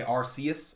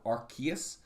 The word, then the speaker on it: Arceus: arceus arceus came out you can say it either way it's spelled with a c so you could say arceus or archaea i say arceus i